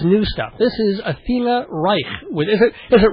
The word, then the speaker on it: Reich: that means but but Reich well you can pronounce it anyway but I just say Reich okay like bike and like is that